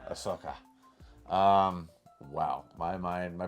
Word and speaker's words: Ahsoka: That's the drunk history of ass Hoka or as Blake will pronounce, Ahsoka.